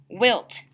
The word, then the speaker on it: wilt: Wilt. This does not follow the long I silent E pattern, so there's 1 red sound chip to represent the short vowel sound.